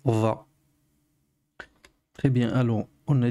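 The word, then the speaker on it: ظ: Donc ici, c'est va. Il y a la pointe de la langue qui sort légèrement pour prononcer va.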